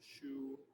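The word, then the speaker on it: xu: that sound is shu so in english it would sound like your shoe that you wear but the is actually x u so shoe so as you breathe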